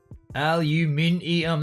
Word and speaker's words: aluminium: Aluminium. That's exactly how it's said, Dale.